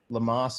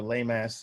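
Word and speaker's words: LEMAS: how many filled out the lamas or lay mass depending upon how you want to pronounce this survey to identify exactly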